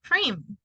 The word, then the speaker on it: cream: sail brain mail plain what about cream it sounds letter e and letter A doesn't have sound cream dream breathe